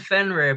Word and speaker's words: Fenrir: binding of finger finero then how do you pronounce the f f and um it's the binding of fenrir but i find it i find it interesting